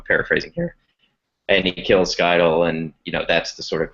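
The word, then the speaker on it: Scytale: If I'm remembering this right, it's been a few years since I've read it, but it's Skydal, the face dancer. Is that how you pronounce his name? Skytail, yeah. Skytail, yeah.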